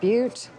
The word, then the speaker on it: Butte: you to get to but I believe it's pronounced Butte Oh could I please have some fried eggs